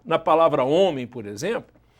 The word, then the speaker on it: homem: Resultado, até a existência do H na palavra homem, por exemplo, é uma contradição do acordo.